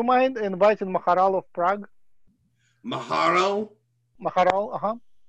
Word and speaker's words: Maharal: Maharal? Maharal, uh-huh. How do you spell that?